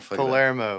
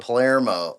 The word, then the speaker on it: Palermo: at sometimes yeah how do you say your last name on Palermo Palermo that's how I was gonna say it I want to [